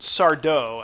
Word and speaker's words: Sardo: So here's what I'll say about Sardo, accent on the dough. No mister.